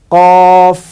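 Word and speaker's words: ك: এই হরফটাও উচ্চারণ উপরের 2 দাঁত নিচের ঠোঁটের মাঝখানে লাগবে। কিভাবে? কাফ, কাফ, কাফ।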